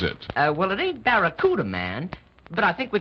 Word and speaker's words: Barracuda: And right now, I'm giving the best deal ever on that new fastmoving Plymouth Fastback, the Plymouth Bakaruda. Hey, man. The name of the Plymouth Fastback is the Barracuda.